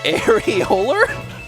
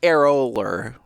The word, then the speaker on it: Aerolar: It's more like aerolar. Aerolar. I think that's a better pronunciation is aerolar.